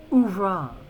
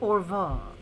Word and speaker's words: oeuvre: Ouvra. I beg your pardon. It's pronounced ouvra, not orva.